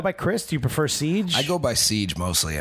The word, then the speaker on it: Ceej: So it was Chris, CJ, and they just got lazy on me and made it Ceej. So, Ceej. Yeah. All right. It works. One syllable.